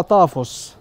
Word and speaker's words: طافوس: طافوس كلمه يونانيه ايوه النطق السليم بتاع طافوس طافوس بمعنى مقبره اللي هي بالانجليزي تومب ايوه فهي كلمه يونانيه الاصل لكن منتشره بقى في